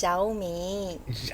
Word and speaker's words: Xiaomi: It's Xiaomi.